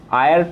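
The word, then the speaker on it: heir: तो यहाँ पर दोस्तों ध्यान दीजिए, अगर आप आयर को लिखोगे तो स्टार्ट होता है एच से, जो कि एक कॉन्सोनेंट है। लेकिन अगर आप इसे प्रोनाउंसिएशन करोगे तो वोवेल आएगा। आप इसे हायर नहीं आयर पढ़ोगे तो सबसे पहले क्या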